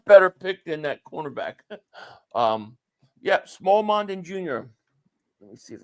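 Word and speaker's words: Smael Mondon: You get Small Mondin. It's pronounced what? Smile Mondin.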